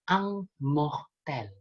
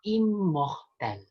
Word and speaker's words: immortel: Contohnya, kita mungkin akan mengira ini dibacanya ang mortel. Tapi yang benar dibaca immortel, bukan ang mortel.